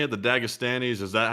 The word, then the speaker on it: Dagestanis: The Dagestanis?